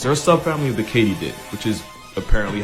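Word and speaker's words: katydid: not actually crickets they're a subfamily of the Katie did which is apparently how you pronounce it Not only was I wrong but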